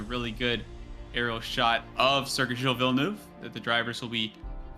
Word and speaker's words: Circuit Gilles Villeneuve: Do appreciate that you pronounced it properly, Circuit Gilles Villeneuve.